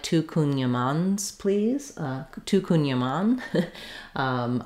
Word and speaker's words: Kouign-amann: NG into the sound you can also make this more of a schwa kunyama kunyama kunyaman kunyaman but trying to keep it a little ah like here in the middle syllable is more accurate as well so next time you're